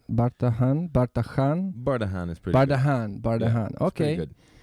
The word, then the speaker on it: Bardahan: Bardahan?